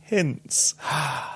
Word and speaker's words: Hintz: She says, "I'll also awkwardly say that my last name is pronounced more like Hintz than the ketchup.